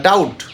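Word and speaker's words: doubt: বি উচ্চারণ করব না ডাউট ডাউট কোন ডাউট আছে এই বিষয়ে তোমার কি কোন ডাউট আছে ডি ও ইউ ভিটিবি আমরা উচ্চারণ করব না ডাউট নেক্সড মানে ঋণ থাকা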